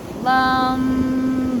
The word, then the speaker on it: LAM: So we have LUM, it's spelled LAM, but we pronounce it LUM.